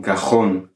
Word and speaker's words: cajón: Il comporte un accent graphique sur le O, donc on va dire un cajón. On va accentuer la dernière syllabe.